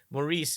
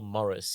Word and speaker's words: Maurice: Morris yeah actually Morris Maurice is how they they spell Morris in England so it's always Morris the answer is always Morris but we bizarrely some people have started taking that Maurice French pronunciation like yeah Maurice's uh